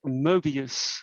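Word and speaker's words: Möbius: And I also have a facial paralysis called Mobius syndrome. So the OE, I think the German pronunciation, Mobius. I think English people normally say Mobius, Mobius.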